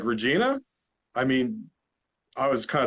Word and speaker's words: Regina: there to do in Regina and I'm like Regina I mean I was kind of surprised they